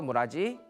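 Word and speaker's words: 連: 그다음에 련이라고 써서 무라지.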